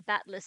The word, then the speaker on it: Battler: Battler is, Japanese doesn't have silent E's. Keep that in mind, and pronunciation becomes easier. Okay, as in, like, you know what? I'll look that up another time. Meanwhile, Battler is just mass hallucinating.